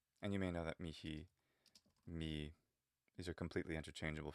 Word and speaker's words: mihi: use either one um if you pronounce the h that is if you use the classical pronunciation me is simply the it's almost like a contraction saying can't instead of cannot it's very common um